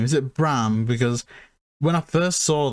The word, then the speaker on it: Bram: have been grand but is it just bram bran graham yeah not graham b b-r-a-m so like a bit of a reference